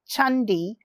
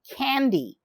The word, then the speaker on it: Candi: The name of this temple is Candi Sambisari, but it is pronounced as Chandi, not Candy, but Indonesians spell it this way. Chandi simply means temple in Indonesia.